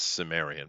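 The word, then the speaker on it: Cimmerian: out of europe that they call the chimerian i believe or kamerian or however you want to pronounce it and those are good books well it's pronounced sumerian but you okay you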